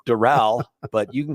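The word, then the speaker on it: Doral: a city last night I said dorl and you were like uhhuh uhhuh and then you go you could call it D Dural but you can call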